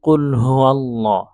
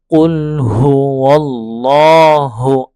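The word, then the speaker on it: قُلْ هُوَ ٱللَّهُ: এটা খেয়াল করতে হবে আচ্ছা অনেকেই পড়ে কি এখানে কুলহু ওয়াল্লাহুর জায়গায় কুলহু আল্লাহ হ্যাঁ ওয়াও এর জায়গায় আলিফের উচ্চারণ করে ফেলে হামজার উচ্চারণ করে ফেলে এটা খুব খেয়াল করতে হবে কুলহুয়াল্লাহু আহাদ আচ্ছা যেটা বলতেছিলাম যে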